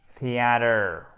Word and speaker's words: theater: deux voyelles, eh ben, il fait ce qu'il peut et se transforme pour se protéger en de. C'est pour ça qu'il est presque prononcé comme un de. Movie theater.